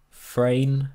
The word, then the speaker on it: Frane: Frane, like main, but with an R and an F.